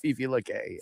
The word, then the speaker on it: Fife Lake: I told somebody that, and they go, "Oh, he's in Fife Lake." That's what the locals call it. Fife Lake.